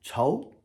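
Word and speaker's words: 仇: The next character, enemy. Second tone, cho.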